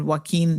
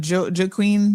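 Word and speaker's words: Joaquín: Somebody said Joaquin. This is how it's pronounced. Oh, I was pronouncing it Joe-Joaquin.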